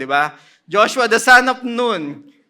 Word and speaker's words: Nun: Inexplain na ni Kuya Rodel last week na we pronounce it noon kasi ang hirap nam manganak nung nan ba. Joshua the son of noon called the priest and